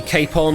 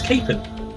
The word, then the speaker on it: Capon: The correct answer we were looking for was indeed Capon or Kapon or however you would like to pronounce it. Um, according to the official pronunciation guide I have here, it's capen.